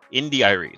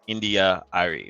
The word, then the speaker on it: India.Arie: Indi.arie, 3 syllables. Indi.arie, that was her name. Now it's India.arie, which is 4 syllables.